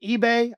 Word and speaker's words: Ibeh: Is it eBay? I don't know how to say it. Yes. IBEH. Okay, Kingsley eBay.